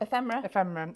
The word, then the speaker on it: ephemera: Yeah, so this is from the, how do you pronounce it again? Ephemera.